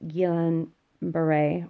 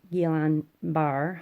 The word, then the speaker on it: Guillain-Barré: she was diagnosed with Guillain-Barré or Guillain-Barre, however you want to pronounce it, which is usually comes after having some sort of infection.